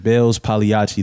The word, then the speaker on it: Pagliacci: Like even my name, Bailz Pagliacci, the G is silent.